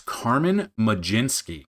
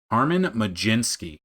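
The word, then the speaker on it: Carmen Mlodzinski: And I've been pronouncing it wrong. It's it's it's Carmen Majinski apparently. Carmen Majinski.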